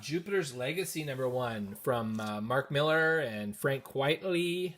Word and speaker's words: Millar: also know that mark it's not Mark Millar it's Mark Miller even with the are there that I know for sure because I saw my interview say everyone pronounces it wrong beautiful Phil no dough cover